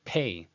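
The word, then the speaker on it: פּ: Well, the dagesh makes it a letter Pei, that's its first name, which is a voiceless bilabial plosive that makes a p sound, as in the word power, right?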